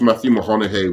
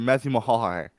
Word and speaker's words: Matthew McConaughey: Wait, say his name again. Matthew McConaughey. Okay. You sound like he's a Mahanahe or something. He went, the first two times he said Matthew Mahoney.